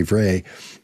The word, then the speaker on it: Vrij: Instead of Vrij, I'll say Vray, Aldert Vray.